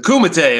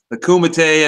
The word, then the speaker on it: Kumite: Michigan, and we were just talking about the pronunciation of the tournament. It's called the Kumite, right? Is that right? Yeah, the Kumite. It was basically from the movie Bloodsport. You know, they compete in the Kumite, except that's full contact martial arts.